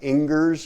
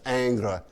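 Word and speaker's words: Ingres: john genus dominic aang it looks like ingers or something it's pronounced angra and he comes along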